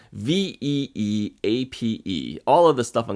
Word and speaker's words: Veeape: Nobody could really pronounce this thing. It's Veeape.